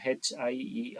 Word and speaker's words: hierarchical: So HIERARCHICAL. So it can be, it should be pronounced as hier hierarchical.